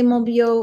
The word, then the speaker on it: Monbiot: thanks very much Elizabeth can I say mobo or should I be pronouncing it no you got it spot on thank you not many